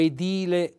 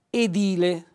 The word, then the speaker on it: edile: della voce sulla e o edile con l'accento della voce sulla i allora chiariamo subito si pronuncia correttamente leccornia ecco vedete leccornia quindi che l'accento sulla i edile anche qui l'accento della